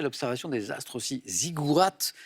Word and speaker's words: ziggourats: Ziggourats, avec un T qui se prononce, Nicole, bravo.